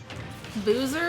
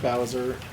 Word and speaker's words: Bowser: Boozer? Is that just drunk Bowser? No, it's just Bowser. Pronounced fun. I have a German friend who calls him Boozer nonstop.